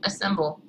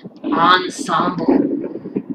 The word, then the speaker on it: ensemble: Okay, and then we have the wind instruments ensemble and the string assemble. Psst! GeeGmax. It's pronounced and spelled ensemble.